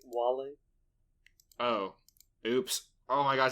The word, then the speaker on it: Wale: there any love with whale yeah it's pronounced wally oh oops oh my